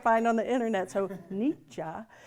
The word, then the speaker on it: Nietzsche: So Nietzsche. Yeah, that's the German.